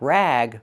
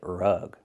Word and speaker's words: rug: Use a short uh sound like cup and up. R-rug, not rag, but rug. This is a rag.